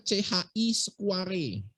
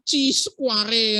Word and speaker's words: chi-square: ada uji namanya, tulisannya CHI Square. Nah, biasanya senior kalian bacanya diuji dengan C-square, Dok. Bagus. Siapa yang ngajarin? Bacanya bukan C-square, chi-square.